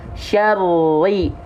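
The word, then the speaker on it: شَرِّ: Syar, yang menyentuh bukan ujung sisi lidah, tapi punggung lidah. Syaru, yang ke langit-langit, lihat, bukan ujung sisi lidahnya. Ya, syarri, syarri, syarri, syarri, syarri.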